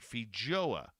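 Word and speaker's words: feijoa: spin the FYOA or Fij Fija, pardon me, Fija, they actually put it in uh to break it down, how to pronounce it, Fija into a global brand as growers have done with apples and kiwi.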